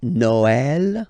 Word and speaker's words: Noël: The last one, tréma, well, basically it's quite rare, and the tricky thing is that in some cases you will have to pronounce it like eh, okay, like for instance Noël, okay, but then in some cases as well it can be pronounced like e, okay.